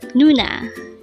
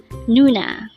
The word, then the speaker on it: 누나: first syllable is new sexy boy is na pronounce it with me Nuna Nuna again a word for today is Nuna this is a term for sister but this